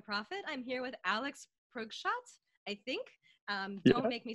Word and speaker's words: Preukschat: And it's Preukschat.